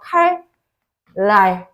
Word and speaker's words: 칼날: 뭐 그 애니메이션 있잖아요 발음 때 칼날이라고 발음하지 않죠 뭐라고 해 칼랄이라고 발음하죠 칼 랄 요렇게 발음을 하게 되죠 요런 것도 이제 어